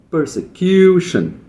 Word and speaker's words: persecution: Political persecution. Ó, per persecution. Tem um pouquinho de stresse desse pur, mas é o kill que vai ser mais forte.